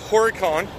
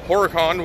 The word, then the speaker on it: Horicon: And let's see, last time I left you, I was up in Horicon, that's how I've been told to pronounce it, Horicon, Wisconsin, at the John Deere Manufacturing Facility where they make John Deere lawnmowers and gators.